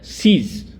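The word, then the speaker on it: cease: 18th word सीज, verb है। सीज का मतलब है रुकना, बंद होना या समाप्त होना। सिमिलर वर्ड, प्रोनाउंसिएशन में सिमिलर वर्ड है सीज, जिसका मीनिंग होता है जब्त करना।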